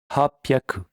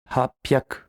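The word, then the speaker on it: 八百: Voici pour la prononciation des centaines. Hyaku, ni hyaku, sanbyaku, yon hyaku, go hyaku, ropyaku, nana hyaku, hapyaku, kyu hyaku.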